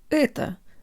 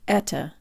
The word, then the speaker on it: это: guys, today you'll learn how to pronounce the word ehto, or this is. When we first start studying Russian, our ehto sounds more like etta.